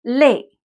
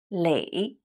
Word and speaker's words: 累: You see the character 累 is one of those characters that has more than one pronunciation. When it means tired, it's 累, a falling tone, fourth tone, 累. And when it means accumulate, it's the third tone, 累, 积累，积累.